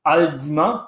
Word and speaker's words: Haldimand: Même la famille de ma mère qui venait vivre dans un coin qui s'appelait Haldimand, mais qui en fait se prononce Haldimand parce que c'était un diplomate suisse qui va travailler pour la couronne britannique ensuite.